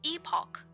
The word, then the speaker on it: Epoch: It's pronounced epoch, by the way.